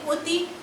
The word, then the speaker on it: অতি: কিন্তু অনেক সময় দেখা যায় অয়ের উচ্চারণ কিছুটা বিকৃত হয়, অনেকটা ওয়ের মতন উচ্চারণ হয়। তোমাদের বইয়ে 2টো উদাহরণ দেওয়া আছে, অতি, অপু।